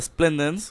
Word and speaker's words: splendens: está mi macho según yo es un beta splendens que así se pronuncia este tipo de beta porque hay beta